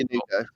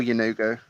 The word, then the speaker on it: Yenoghu: Yanugo? Sorry. How do you spell Yanugo?